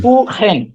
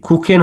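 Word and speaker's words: Kuchen: সেহা, হ্যাঁ, হ্যাঁ, হ্যাঁ, এটা কি কুকেন হবে না? এখানে কি এর মতো উচ্চারণ হলো? এটা কিন্তু খয়ের মতো উচ্চারণ হলো এখানে, কুখেন।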